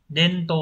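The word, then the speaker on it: 伝統: số 3 Đây là truyền và thống rồi đọc là Dento vậy đáp án đúng là 3 và và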